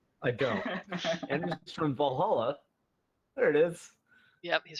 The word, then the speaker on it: Valhalla: going let you take I say Valhalla instead of valala yeah I don't it's Valhalla yeah that's what I say